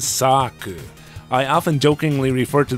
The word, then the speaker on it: Xak: note about the title Zach is probably not the intended pronunciation the Katakana actually says Sak I often jokingly refer